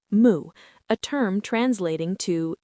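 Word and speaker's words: 無: In Japanese, this is pronounced moo, a term translating to not having, void, without anything, or what does not exist.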